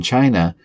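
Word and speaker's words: qi: In China, ki is pronounced as chi, while in Japan, ki is pronounced as ki, and in ancient Egypt, this life force of empowerment was known as ka.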